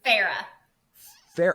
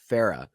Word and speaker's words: Farrar: Farrah. Okay, I was not saying it correctly. Farrah. So it rhymes, right? Yep, Kara Farrah does rhyme.